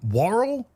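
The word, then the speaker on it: Woll: Uh, that's actually meant to be Deborah Anne Warl, I think is how you pronounce her name.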